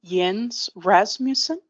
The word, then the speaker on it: Jens Rasmussen: Our next speaker is Jens Rasmussen. Mr. Rasmussen, go ahead and state your name and spell it.